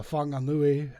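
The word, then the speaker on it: Whanganui: got a we've got a town called Fakatan. Uh I like that. Yeah. and uh Fangui. And they're all spelled with W's and H's for some reason instead of an F.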